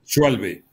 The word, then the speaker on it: Schalbi: No sé si no, se pronuncia Schalbe. Así. ¿Ah? No, se pronuncia Schalbi.